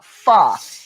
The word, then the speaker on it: pho: yet healthy version of pho it's uh it's spelled pho but it's pronounced like the f-u-h and i am doing